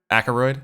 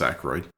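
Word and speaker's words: Aykroyd: Akaroid. Isn't that how you say it? I think it's just Aaroid. Oh, I'm like adding a syllable.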